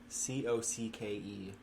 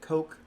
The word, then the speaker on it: Cocke: last name was spelled Cocke. Like cook? You pronounce it cook? Cocke. Cocke. Yeah. People pronounced it cock. Yeah. People pronounced it cocky. Mm-hmm. He pronounced it coke.